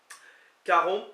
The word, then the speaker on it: karomp: dépend, Galon pour cœur, Caromp, qui s'écrit K-A-R-O-M-P, le P ne se prononce pas semble-t-il, qui veut dire aimons,